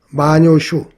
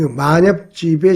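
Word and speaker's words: 万葉集: 일본의 만엽집이라고 있는데요. 마녀슈, 우리 발음으로는 만엽집. 그 만엽집에 실려있는 그 5,000수가 넘는다고 그래요.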